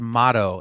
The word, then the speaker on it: Motto: But really, it's not Motorola, it's Motto, M-O-T, two T's.